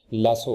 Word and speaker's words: lasso: उर्दू जुबान में ये जो कमंद डालना जिसे कहते हैं उसे अंग्रेजी में लासो कहते हैं। अमेरिकन एक्सेंट में ये लफ्ज लासो है, जबकि ब्रिटिश एक्सेंट में इसको प्रोनाउंस करेंगे लसू करके, लसू।